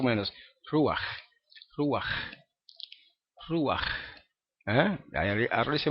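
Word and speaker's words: רוח: el final también ru ruaj que significa espíritu o también significa viento verdad la palabra ru termina con esa letra Je y se pronuncia de esa manera aunque no quieren no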